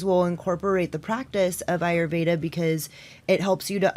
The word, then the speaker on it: Ayurveda: have you heard of ayurveda ayurveda ayurveda never heard of heard your pronoun it so well did I say it right you said it perfect ayurveda ayurveda okay what is